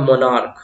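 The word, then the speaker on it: monarch: आपका ये होता है मोनार्क। क्या होता है? मोनार्क। ठीक है, तो आपको दिख रहा होगा कि ये जो CH है इसका प्रोनाउंसिएशन क्या हो रहा है?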